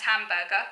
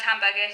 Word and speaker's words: Hamburger: For example, his murderous mentor, Franz Hamburger, which rhymes with Asperger, Franz Hamburger, he said that society must invest in disabled youths and try and integrate them.